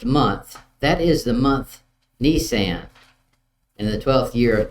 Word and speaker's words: Nisan: Not the one you drive around. Nisan, I guess is how you say it.